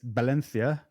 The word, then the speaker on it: Valencia: Well, it's like when you go to Valencia in Spain, it's Valencia. They don't pronounce the V, they pronounce it B.